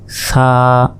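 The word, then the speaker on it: ث: উচ্চারণ করতে হবে সা মনে রাখবেন অবশ্যই জিহবা বের করে এই অক্ষরটি উচ্চারণ করতে হবে সা এরপর দেখুন মাঝখানে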